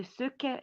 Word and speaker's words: Sauchie: It's spelled the Suki. It's spelled Sauchie.